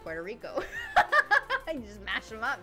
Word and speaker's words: Puerto Rico: Because in English, it's Puerto Rico. And in Spanish, it's Puerto Rico. And in the middle, it's just Puerto Rico.